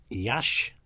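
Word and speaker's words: Iași: any of these cities, Yash, which is spelt Yassi, you know, and like if you go to Varna and Plovdiv or where else did we go?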